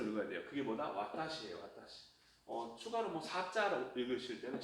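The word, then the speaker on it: 私: 와타시.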